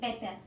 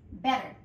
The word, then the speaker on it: better: de dos T y no se dice better, no, es better. Porque la T en inglés suena muy similar a una R, ¿ok? Pero no llega a ser una R. Así que sería better late, no es late, es late, than, TH.